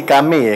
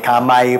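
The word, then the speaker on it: Camay: Kaya naman pala mo yung pronunciation pa ata nila noon, hindi Kame eh, Kamay pa eh.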